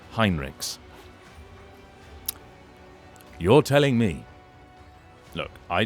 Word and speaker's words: Heinrix: the humans have Germanic-sounding names, it's not pronounced Heinrix. You're telling me. Look, I didn't write it. I've been told off. I have been thoroughly told that it is Heinrix.